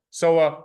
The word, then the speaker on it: SOA: that content or SOA SOA rhymes with boa okay so what a